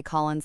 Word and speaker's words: Collins: I checked the small card with my name printed phonetically because people often wanted to say Collins like it had a second syllable.